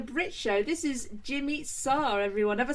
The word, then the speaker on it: Sarr: This is Jimmy Sarr, everyone.